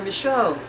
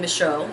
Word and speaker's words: Micheaux: his last name, changing Micheaux, as I said before, M-I-C-H-A-U-X, to Micheaux, M-I-C-H-E-A-U-X. The joys of French and how you can pronounce both the same.